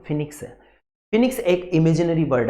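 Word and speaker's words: phoenix: फिनिक्स, इसका pronunciation ध्यान दीजिएगा, फिनिक्स है।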